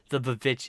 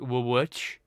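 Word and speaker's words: VVitch: Not realizing that it's not actually two V's, it's actually a W. So if you were gonna pronounce that properly, it'd be Witch.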